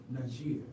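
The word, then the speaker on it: Niger: Sometimes today you hear the word pronounced Najir.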